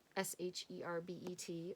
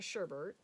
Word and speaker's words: sherbet: If anybody knows the mystery of that word, S-H-E-R-B-E-T, let me know. Because I grew up saying sherbet, and I feel like I always hear sherbet, but that's definitely not how it's spelled.